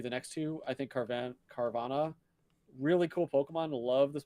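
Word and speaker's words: Carvanha: I think Carvana, really cool Pokemon.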